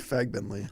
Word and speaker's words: Fagbenle: Fagbenle.